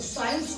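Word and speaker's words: science: अगर आप इस वर्ड को देखें तो साइंस वर्ड जो है आपका, इसमें सी को प्रोनाउंस नहीं किया गया।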